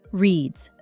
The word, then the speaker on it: reads: Reads. The S sounds like Z.